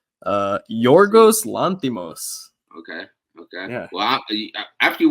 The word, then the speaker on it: Yorgos Lanthimos: Apparently it's Yorgos Lanthimos.